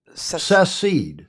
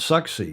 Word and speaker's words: secede: Secede. Yeah. Not succeed. I know. Secede. I'm the one. Secede. I've got to pronounce that properly.